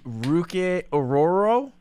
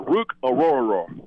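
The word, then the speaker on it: Orhorhoro: for it that's okay ruk aoro that's pretty good Rook yeah even add one more in there Rook auror Rook auror we have a lot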